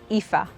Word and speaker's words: Aoife: But how do you say it? Ifa.